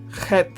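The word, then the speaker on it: חית: Het, in Scotland there are lakes called Loch Lomond. They have Loch. So Bach, Loch. So that sound is Het.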